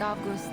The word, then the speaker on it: Avgust: an unusual student like AUST okay I think they really are pronouncing the V sound for his name AUST all that childhood